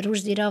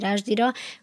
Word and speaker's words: Rushdie: Rushdie, ő magát Rushdie-nak mondja, jó. Szokták Rushdie-nak is, mert egyébként az angol az egy ilyen furcsa nyelv, többféleképpen hallottam. Én a Rushdie-t tartom, mert egyébként ő amúgy egy indiai muszlim családból származó ember, és az indiai akcentusban ez valóban közelebb áll, ha én elég ilyet hallottam az ottaniaknak a garatához és felső szájpadához, úgyhogy szerintem Rushdie. Akkor maradjunk a Rushdie-nál.